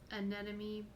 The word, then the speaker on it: anemone: The light from these anemone pieces.